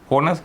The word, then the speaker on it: honest: honest නෑ එච් අකුර තිබුණාට මොකක්ද? ඒක silent letter එකක්.